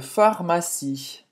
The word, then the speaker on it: pharmacie: Je cherche une pharmacie. Pharmacie. Em francês, pharmacie é com esse PH, mas é o mesmo som. Pharmacie. O E no final é mudo.